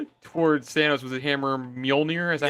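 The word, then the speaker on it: Mjölnir: Thor caught off guard, hesitated for a moment before charging towards Thanos with his hammer Mjolnir. Is that how you pronounce it? Mjolnir, you got it.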